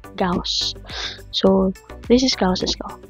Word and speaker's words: Gauss: according to the internet the pronunciation to this is c just like the house so Palitan mo yung h ng G so gaus so This is gauss's